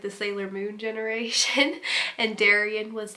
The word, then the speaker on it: Darien: is another D name and that is Darien and this is a Greek name meaning gift and it kind of rhymes with alien which is kind of